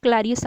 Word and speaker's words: Clarias: Spelling थोड़े से इधर उधर हो गए, क्लैरियस आना है, ठीक है, CLARIAS, क्लैरियस, ठीक है।